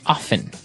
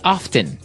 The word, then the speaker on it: often: Now with pronunciation, some people like to pronounce often, right? They kind of leave out the strong t sound while other people say often.